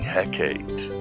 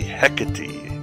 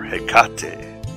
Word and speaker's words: Hekate: And yes, I'm sure I'm mispronouncing Hecate. It should be Hecate or Hekate.